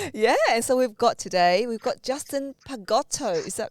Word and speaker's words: Justin Pagotto: Yeah, and so we've got Justin Pagotto. Is that right? Yes, Justin Pagotto. Yeah, you pronounced it correctly.